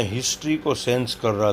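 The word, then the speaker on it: Nkosi: जो white people जो थे, वाइट अफ्रीकन्स थे, उनका जो है ये नाम दोनों याद रखिएगा, कोसी, एन साइलेंट है, कोसी सिकेलेल अफ्रीका, एंड ब्लैक जो लोग हैं वो die stem, the old anthem of the Republican.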